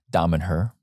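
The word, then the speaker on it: Damanhur: How do you pronounce? Damen-Her.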